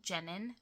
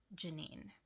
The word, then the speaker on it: Jenin: And so then I decided to start the book mornings in Janine I think is how you pronounce it looks like Jennine but in the lang in their language it's Janine.